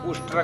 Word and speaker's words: उष्ट्र: तो कालिदास जी देख करके बताते हैं कि उष्ट्र की जगह उच्चारण करते हैं उट्र। उष्ट्र भी वो बोल नहीं पा रहे होते, उट्र ऐसा करते हैं।